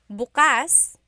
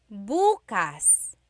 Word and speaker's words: bukas: pronunciation if you say buas buas the emphasis is on the second syllable that means open if you say buas buas emphasis is on the first syllable that means tomorrow very interesting like oh